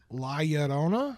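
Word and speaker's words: Llorona: The double L's make the Y sound and you knew that.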